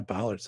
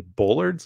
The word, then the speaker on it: bollards: And yeah, bollards. That's a, you know, I used to pronounce bollards incorrectly. Apparently bollards is what I said. And somebody, you know, said they're actually bollards, Doc Pro.